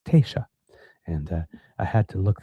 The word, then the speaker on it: Taoiseach: I believe it's T shock. I have to It's written It is spelled t a o i s e a c h, which if I'm reading it, I would think it's T shock, but because, of course, it's like Gaelic, it's T shock.